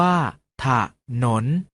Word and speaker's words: ถนน: วิสรรชนีย์ ปรากฏ ให้ เห็น เวลา อ่าน จะ ออก เสียง อะ กึ่ง เสียง เช่น ทหาร ออก เสียง ว่า ทหาร ถนน ออก เสียง ว่า ถ้า ถนน ฉลาม ออก เสียง ว่า ฉาก หลาม ถนน ออก เสียง ว่า ขนุน เอา เมล็ด ออก เสียง บ้า เมล็ด เรา มา ออก เสียง